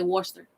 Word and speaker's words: Worcester: It's spelled like Worcester, but they'll say Worcester.